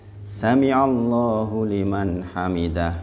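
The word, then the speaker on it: سمع الله لمن حمده: Ini dibacanya jangan Sami Allahu liman hamidah. Jangan ini pendek nih. Jadi jangan kalau bisa lihat tulisan Arabnya gitu. Sami Allahu liman hamidah gitu. Supaya madnya benar. Madnya betul.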